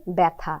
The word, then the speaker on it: ব্যথা: জ ফলা অন্তস্থ অচ্ছে ব্যয় বয় জ ফলা থ আকার উচ্চারণ হচ্ছে ব্যথা তার মানে জ ফলা